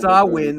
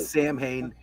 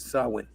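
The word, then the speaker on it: Samhain: And folks, it's pronounced sawin, not Sam Hayne.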